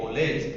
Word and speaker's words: कॉलेज: ठीक है, क्या बोलेंगे, कॉलेज, ठीक है। सो इसका उच्चारण आ तथा ओ के मध्य की ध्वनि आ के लिए के रूप में होता है, जैसे कॉलेज का आलेज, ठीक है, कॉलेज, ठीक है।